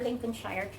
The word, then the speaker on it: Lincolnshire: Lincolnshire or Lincolnshire?